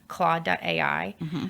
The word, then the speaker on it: Claude: heard a lot about how do you spell that c l a u d e okay claw.